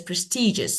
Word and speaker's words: prestigious: want to change, okay, I want to change the stress and say, okay, for example, prestigious, okay, like, and prestigious, the first one, and the correct one that is prestigious. So stages, prestigious, okay?